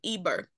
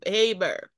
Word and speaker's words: Eber: EB e r okay they will also pronounce it the scholars will also pronounce the Haber or what have you but this is what they say it was transliterated the transliteration is EB e r now notice that this